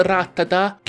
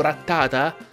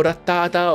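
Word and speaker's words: Rattata: di diverso se non ratta tac ed andrebbe pronunciato retata ma fa schifo quindi se volete pronunciarlo retata ok se no continuate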